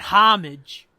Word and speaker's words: homage: it we call that homage I think the H is silent though don't you remember